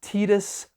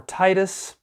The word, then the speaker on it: Tidus: People debate whether it's pronounced Titus or Titus. When it was finally spoken aloud in English in Kingdom Hearts, they said Titus.